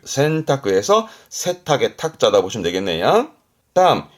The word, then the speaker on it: 洗濯: 발음은 센타크. 센타크에서 세탁의 탁자다 보시면 되겠네요.